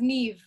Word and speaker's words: Niamh: And then Michael Burwell's daughter, we got Niamh. Oh, so wait, how am I pronouncing your name? Is it correct? It's pronounced Niamh, like with a V. Niamh.